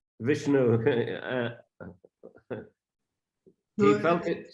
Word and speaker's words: Vishnu: Same with Vishnu. Thais pronounce Vishnu. Как Вишну, например, на тайском произносится как Вишну. But it's written, if you pronounce it in a Sanskrit way, it's Vishnu.